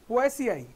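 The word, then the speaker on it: Poaceae: इन दी family पोएसिए, इसको ऐसे ऐसे प्रोनाउंस करते हैं इसको, पोएसियाई. अगर कोई देखो इंटरव्यू में बोलना पढ़ने लग जाए तो पोएसियाई, पो ए सी आई, ऐसे जस्ट फॉर योर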